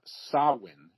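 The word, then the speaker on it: Samhain: Oh, we just got sawin is the actual pronunciation.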